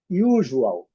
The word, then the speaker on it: usual: Usual. Ju. Não zu. Ju. Não su.